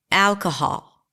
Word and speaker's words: alcohol: Alcohol. On what syllable did you clap, nod your head, snap your fingers? The first syllable, right?